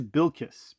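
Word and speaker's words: Bilquist: It is it is Bill Kiss. Bill Kiss is how she pronounces her name. She she made mention of that specifically. Bill Kiss Evely, not Bill as is mentioned in the movie.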